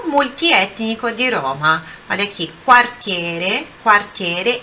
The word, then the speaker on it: quartiere: Quando a pronúncia aqui, quando nós temos o QU ou o GU no italiano, é sempre aquele U é sempre pronunciado. Então, nesse caso aqui, ó, é quartiere, ok?